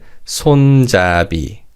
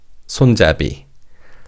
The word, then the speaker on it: 손잡이: Now, in terms of pronunciation, because the last syllable begins with an ian consonant, the 비읍 받침 in the second syllable carries over to the final syllable. So this is read 손잡이, 손잡이.